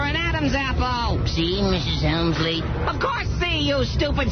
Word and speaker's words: Helmsley: The Helmsley Hotel.